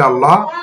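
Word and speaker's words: الله: শব্দ এটা হচ্ছে লাফজে আল্লাহ এর পূর্বের হরকতটা যদি জবর অথবা পেশ হয় তখন আল্লাহ শব্দে আল্লাহ শব্দের লামটাকে মোটা করে পড়তে হবে যেমন মিলিয়ে পড়ার কারণে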